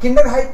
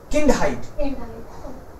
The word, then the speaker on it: Kindheit: Likha yahi tha aur pronounce galat kara. Koi baat nahi. Wohi kaam hai mera. Don't worry. So, beschreiben. And Kinderheit nahi. Kindheit.